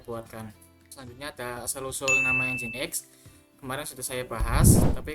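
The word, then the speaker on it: nginx: nama engine X itu karena awalnya itu Eng dalam bahasa Inggris itu dibacanya seperti ng gitu l huruf x juga tadi sudah saya jelaskan memberikan kesan modern dan inovatif dasar dari nama ini adalah huruf ng ng yang bunyinya seperti n ng dalam bahasa Inggris x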